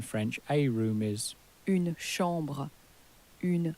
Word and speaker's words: chambre: the word for chamber, the ch in French has changed to a sh sound, because ch in French is pronounced like an sh in English.